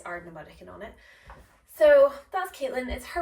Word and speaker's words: Ardnamurchan: all of you that it's Ardnamurchan and not Ardnamurchan.